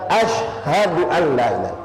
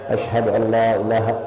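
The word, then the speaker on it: أشهد أن لا إله: Satu lagi poin ya, yang banyak kita salah dalam pengucapan asyhadu an la ilaha. Banyak yang haknya dibuang. Antum nanti coba praktek, jangan dipaksakan.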